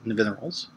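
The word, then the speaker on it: Nevinyrral: If you're curious as to how to pronounce it, you could say Larry Nivens, but you want to say it backwards, so Nivineral's.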